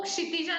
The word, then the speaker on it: क्षितिजा: तो बोलते वक्त भी समझ में आता है इट्स अ मिक्सचर ऑफ क और श.